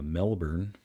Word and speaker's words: Melbourne: a while in uh Melbourne Melbourne that's how they pronounce it down there nobody down there says Melbourne or Melbourne it's melbour I've never been to